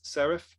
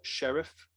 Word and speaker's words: serif: Pronunciation, I believe it's serif and not sheriff for that type of font. Correct me if I'm wrong, Mike, but I believe that's how you pronounce it.